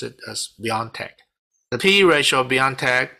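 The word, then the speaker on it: BioNTech: and then on january 27 i bought bnt x year because of some positive news regarding bioentech and also the p e ratio of oh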